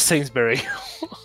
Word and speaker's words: Sainsbury: I saying it is sainsbury it's it's spelled Saints b-u-r-y and the way I said it it's sort of like it's Saints b-e Double R Y as in strawberry whatever Hillary versus Barry yeah it's like no